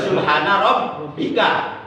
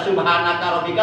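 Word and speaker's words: سبحان ربك: Jadi yang benar subhana rabbika. Kalau dibaca subhanaka rabbika salah enggak?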